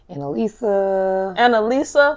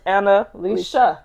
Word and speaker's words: Annalisha: Annalisa, like without the H? all type of stuff. I just say Anna for short. If you can't pronounce it, Anna for short. But it's not hard. it's like the syllable is Annalisha.